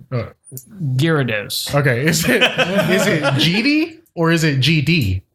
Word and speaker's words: GD: I think it's pronounced Guede. I think it's pronounced Guido. Guido? No. I was on a chat with him. It's GD.